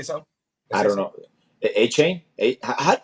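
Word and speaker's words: Achane: Because I always said I don't even know A-Chain. how to say it. I always said A-Chain, like A-Train. But no, it's A-Chain. A-Chain because he said it.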